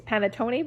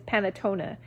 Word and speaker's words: panettone: sorry you guys i i always think it's panettone but i know that's not right i think it's panatona uh the big it's